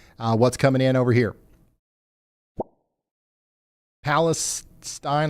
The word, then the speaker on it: Palestine: Palestine, like spine.